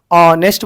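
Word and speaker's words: honest: क्या है अपने को, ऑनेस्ट बोलते हैं अपन, ऑनेस्ट बोलते हैं, तो इसको क्या आता, H साइलेंट बन जा रहा।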